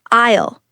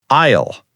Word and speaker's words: aisle: Pronunciation check. Receipt. Say it like receipt. Receipt isle. Say I isle.